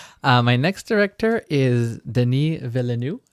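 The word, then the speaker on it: Denis Villeneuve: Uh, my next director is Deni Velu. Deni, as the Americans say, Dennis Veluvi.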